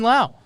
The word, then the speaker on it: Lowe: On his baseball reference, it says now. It rhymes with now. Now, like Good job, Lowe.